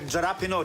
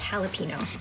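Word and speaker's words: jalapeño: You tried jalapeno chip? That's so spicy. It's pronounced jalapeno.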